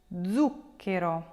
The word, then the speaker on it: zucchero: For examples, words like pallido, tavolo, zucchero. If you break those down, you will notice that the stress will fall on the third to last syllable.